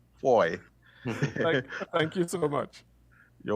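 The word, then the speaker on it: Fahie: Ah, Foy. All Yes, right. Foy.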